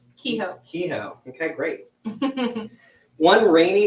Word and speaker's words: Kehoe: How do you pronounce Liss's last name? Kehoe.